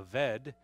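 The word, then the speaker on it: עֶבֶד: but it's it's pronounced the B sometimes it's pronounced as a V so it's a vet and basically that means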